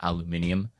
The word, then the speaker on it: aluminium: were talking about and they would always make fun of americans for pronouncing it aluminum and they pronounce it aluminium it just seems like it's more effort to say it that way yeah aluminum aluminium see we got